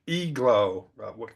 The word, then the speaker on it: igloo: igloo. Okay, it's e-glow. Don't ask me why it's pronounced like an E, all right? I'm not sure why, but it's e-glow.